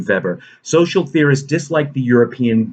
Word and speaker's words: Weber: theorist named max weber it's it's it's written weber it's pronounced in german feber social theorists dislike the